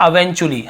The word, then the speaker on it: eventually: एंड अवेंचुअली, अब इसे इवेंचुअली लिखा हुआ है लेकिन बहुत से लोग इसे अवेंचुअली, मतलब इसका सही उच्चारण क्या होता है? अवेंचुअली, हम क्या पढ़ते हैं? अवेंचुअली।